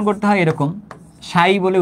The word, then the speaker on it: psi: এইটাকে বলতেছে হচ্ছে উচ্চারণ করতে হয় এরকম, সাই বলে উচ্চারণ করতে হয় আর কি, PSI। হ্যাঁ, উচ্চারণ করতে হয় এরকম PSI বা সাই নামে উচ্চারণ করতে হয় এটাকে।